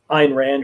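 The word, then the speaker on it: Ayn Rand: philosophy which was based on a woman named ein rand or anne ran depending on how you pronounce it who is i to this day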